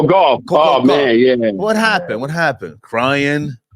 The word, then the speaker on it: Gauff: Coco McGough. How do you say her last name? Goff. Coco Gauff.